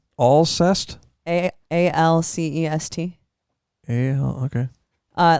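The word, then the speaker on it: Alcest: like that what yeah what'd you say all zest is that how you pronounce her name I don't know have you heard that it is all zest a-a-l-c-e-s-t yeah okay uh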